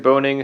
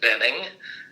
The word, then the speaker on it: Boehning: via phone with boning who is in is it Lafayette Indiana well no uh it's I pronounce it Benning that's B OE h